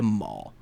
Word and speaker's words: Mol: notorious bounty hunter, Shenda Maul, which Maul, it's pronounced exactly like Darth Maul, not spelled the same. Maul to this one being Mol. And they had tracked her to Numidian Prime, where she had like a hideout.